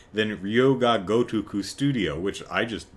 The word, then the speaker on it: Yakuza: because it's a lot easier to say than Yuh-KOO-zuh Studio, which I just butchered.